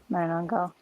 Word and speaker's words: Manananggal: What's the first syllable? Metagango? Miranongo? Is that what you said? Let's check that out. Yeah, Manananggal.